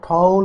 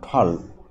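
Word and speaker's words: tall: এখানে থাউজেন্ড হবে না, এখানে হবে থাউজেন্ডস, আর এখানে টল উচ্চারণ হবে না, এখানে টি এর উচ্চারণ হবে ঠয়ের মতো, ঠল।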